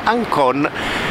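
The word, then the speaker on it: ΑΓΚΩΝ: sa che la gamba e la cappa si pronuncia Inc e quindi Ancon era scritto in queste monete Quindi questa moneta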